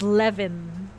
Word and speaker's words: Eleven: do then also caramel 11 is actually pronounced as Lev they they called her